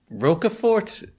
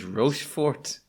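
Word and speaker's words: Rochefort: This is Roaffort that I've been mispronouncing as Rofort for my entire life. And that I have no doubt that I am mispronouncing it because Sarah's pronouncing Shoot. I actually might be doing a Catalan a Catalan pronunciation by accident.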